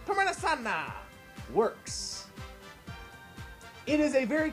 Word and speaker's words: Tomena Sanner: It's pronounced Tomena Sanna.